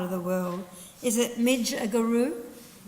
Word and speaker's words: Midgegoroo: But the great warriors of resistance in this part of the world, is it Midjaguru? Midjaguru and his son Yagan.